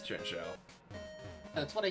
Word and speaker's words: Chinchou: You also can I find thought one it in was Little pronounced Bar. Chin Chow. It's Chinchou.